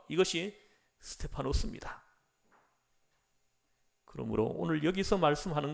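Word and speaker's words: Στέφανος: 한사람 수 제반 이 스데반이 헬라 발음으로는 스테파노 씁니다 이 스테파노 스가 면류관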